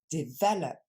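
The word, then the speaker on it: develop: manger développer et maintenant on regarde en anglais des valap ok donc le l'accent tombe sur le V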